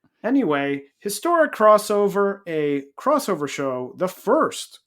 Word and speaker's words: Historic X-Over: Not historic X-over. You'll see a lot, like, in Japanese stuff, with either the X is just not pronounced at all, or the X is cross.